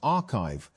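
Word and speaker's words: arXiv: Although papers are posted to the site before they are peer-reviewed, Orgsiv, pronounced archive, has become one of the main ways that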